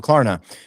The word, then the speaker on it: Klarna: Klarna. Klarna. Klarna. That's a That's a very small R.